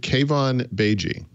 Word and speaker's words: Keivan Beigi: He says Mary Jo pronounced perfectly last week. Keivan Beigi.